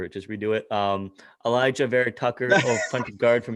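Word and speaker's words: Alijah: is it elijah oh you do pronounce the j mo whatever whatever just copy over it just redo it um elijah vera tucker fronted guard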